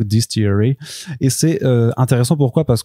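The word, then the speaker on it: DSTLRY: Donc en vrai c'est fait que de lettres, enfin c'est D-S-T-L-R-Y, Distillery, mais en vrai ça se prononce donc Distillery, et c'est intéressant.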